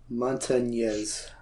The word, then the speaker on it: Montañez: Jesse Montanese, is that how you say it? Montañez. Montañez. Because remember, it's a nya for the Montañez.